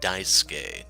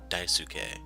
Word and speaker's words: Daisuke: Akane katashi probably and keep in mind this name is pronounced Daisuke not Daisuke yeah the three of